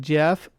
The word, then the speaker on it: GIF: I use the hard G even though the person who invented it says it like peanut butter. Oh, you're talking about GIF and GIF. GIF. Obviously, it starts with a G.